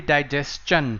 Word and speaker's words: digestion: So same way it will be digestion, right? Whenever the word is STION, the pronunciation will end in chan.